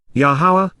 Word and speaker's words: Yahowah: Yahweh, the proper pronunciation of the name of Eloah, God has directed in his Torah, teaching regarding his higher